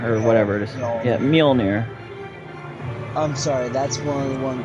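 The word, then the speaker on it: Mjölnir: Yeah, Mjolnir. I'm sorry, that's one of the things that bugs me with how people pronounce his hammer. It's Mjolnir, and a lot of people do not say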